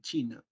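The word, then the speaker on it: Qin: viene el nombre de china porque esto se pronuncia chin chin de ahí viene el nombre de China é es el que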